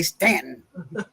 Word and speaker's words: Staunton: are gonna be like, "It's spelled Staunton." We say Stanton. We don't care in Virginia how it's spelled. We leave that you go. All right. We don't care how it's spelled. That's not how you say it.